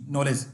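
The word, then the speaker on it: knowledge: ई डी जी ई नॉलेज इसमें के क्या है साइलेंट है के क्या है साइलेंट है तो इसमें क्या बोलते हैं हम नॉलेज ओके दोस्तों नॉलेज क्या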